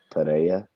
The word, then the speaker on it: Pereira: Just Eddie pronounce it Pereira.